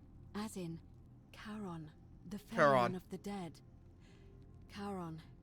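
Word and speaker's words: Charon: it's just as you described it only your pronunciation is a little off the name you heard wasn't Karen it was c h a r o n as in Kon the of the Dead Kon who in exchange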